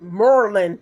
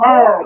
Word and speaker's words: Maryland: how they say it? Merlin. She from Merlin. The people that come from Marlon. Baltimore up here, they say They be like, Merlin.